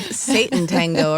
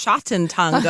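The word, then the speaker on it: Sátántangó: buying your books seen a lot of copies of Satan tango around Brooklyn lately although apparently it's pronounced shoten tango I will not be saying ever again can I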